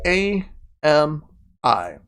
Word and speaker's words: Ami: It's spelled A-M-I.